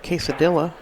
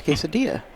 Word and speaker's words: quesadilla: you loco yeah well you don't call it k cedilla it's quesadilla well I've heard an